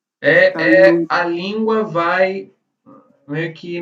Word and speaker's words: salud: Na verdade, a pronúncia mais próxima seria como se você fizesse um U com um acento.